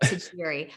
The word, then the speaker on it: Tajiri: Tiffany and Company and here's my last name it's kind of a mouthful but to Jerry I will spell it